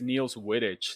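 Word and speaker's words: Niels Wittich: uh two people named niels welchins i think it's neil's whittage that's how you pronounce it yeah it's a british name and then eduardo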